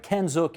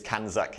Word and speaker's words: CANZUK: I'm saying it right, CANZIC International. Canada, New Zealand, United Kingdom, the acronym, obviously. What are you guys advocating for? So what we advocate, you were close, it's CANZUK International.